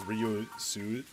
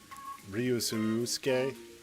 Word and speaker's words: Ryusuke: I dislike that they pronounce it as Ryusuke. Ryusuke. Because it's Ryusuke.